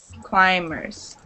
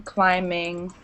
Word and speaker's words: climb: were struggling to pronounce it's a silent B in this word climers climbers silent silent be clim climb climbing climing and it means